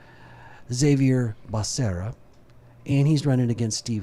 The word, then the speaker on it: Xavier Becerra: his name right or do I say it like Biden? Biden called him Xavier Becerra. I think it's actually Xavier Becerra.